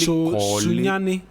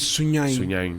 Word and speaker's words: Sunyani: So it's actually Sunyani yes. is Sunyain. So yes. I always say yes.